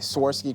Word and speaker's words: Swarovski: work on my pronunciation swarovsky yeah so there's no tea right right Swarovski Crystals that's what it